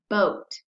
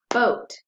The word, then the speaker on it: boa: So we break it apart between the O and the A. So that has two syllables.